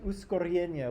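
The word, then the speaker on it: ускорение: You got to roll your R's. Right. Uskoryenie.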